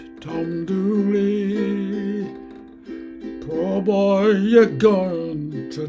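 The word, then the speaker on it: Dula: She was stabbed in a jealous rage by Tom Dooley, D-U-L-A, pronounced in the local dialect as Dooley, and was hanged.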